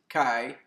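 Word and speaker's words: qi: here the chinese sign for wood key energy or some pronounce it chi energy is the energy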